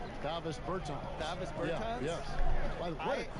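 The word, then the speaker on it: Dāvis Bertāns: At this point in my life, it's Davos Bertans. Is that how you say his name? Davis Bertans.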